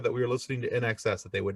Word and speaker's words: INXS: But so I did notice that in your band, I believe you guys pronounce it INXS.